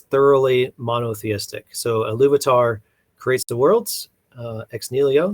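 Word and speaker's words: Ilúvatar: the creation of Middle Earth, is how you pronounce it? The Ulvatar? Iluvatar. Iluvatar. Sorry. Iluvatar.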